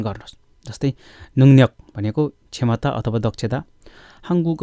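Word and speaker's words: 능력: हामीले सिक्दै गर्दा पहिला बेसिक तल्लो लेभलमा सिक्दाखेरि हामीलाई यसको उच्चारण के भनिन्थ्यो भन्दाखेरि, नुङ्रक, नुङ्रक भन्थ्यो होइन। अब त्यसैले अबदेखि के भन्नु पऱ्यो भन्दाखेरि, नुङ्न्यक, नुङ्न्यक, नुङ्न्यक भनेको दक्षता, क्षमता।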